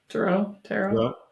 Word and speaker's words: tarot: Yeah, tarot. So it's like potato.